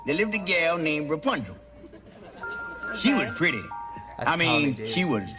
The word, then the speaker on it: Rapunzel: You gotta roll your R's. Rapunzel.